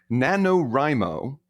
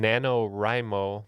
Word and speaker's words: NaNoWriMo: And it should be noted that in NaNoWriMo, the rye is spelled with a W, so W-R-I.